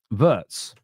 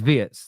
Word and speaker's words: Wirtz: That first half performance from Wirtz, or Wirtz, whichever way, I do think it's Wirtz. They were saying on the commentary that that's how they say it in Germany, Wirtz.